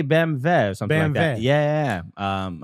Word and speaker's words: BMW: took it you know BMW is pronounced it's pronounced BMV oh yeah yeah Germany they say bve or something yeah yeah um all right well